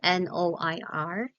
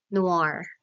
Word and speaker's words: noir: now students let me just correct um the pronunciation of the word that spells n o i r so I've searched it in the internet and it say it says that it is pronounced as Noir Noir okay it's Noir so last slide language is